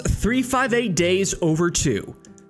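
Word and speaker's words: 358/2 Days: Kingdom Hearts 358 Days Over 2. That's how you say it.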